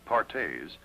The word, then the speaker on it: Perthes: Another crippling disease known as Perthes, pronounced Partes, was the demoralizing ailment that brought this little fellow to Spears.